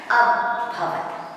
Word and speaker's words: अभवत्: जो एस के काकाजी ने वो अ से प्रोनाउंसिएशन उसका होता है अभवत्।